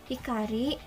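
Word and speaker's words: 光: Cara baca kanji hikari ini memiliki 2, kung maupun ongnya. Kungnya itu hikari sama hikaru.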